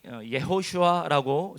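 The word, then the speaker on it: יהושע: 히브리어 성경에 여호수아의 이름이 예호슈아라고 적혀 있어요. 히브리어 발음으로 예호슈아라고 하는데 그 동명이인이 성경에 많이 등장합니다.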